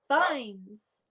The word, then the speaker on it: Fiennes: Fines.